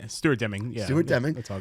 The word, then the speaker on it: Stuart Deming: My man, Stuart Deming, my first time actually formally, did I say it right? Yeah, Stuart Deming.